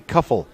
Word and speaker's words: Cuffel: 2-1 to Cody Cuffel. Cuffel's last name rhymes with Tuffle.